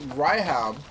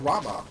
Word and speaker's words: Ramuh: And now, turns out I've been missaying the summon, the lightning summon's name. So I've been calling it Raiham, but turns out it's called Rama. Turns out it's actually pronounced Rama, not Raiham.